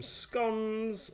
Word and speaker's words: scone: little bag with some scones or scones, however you want to pronounce it. I say scone because that's the correct way to say it.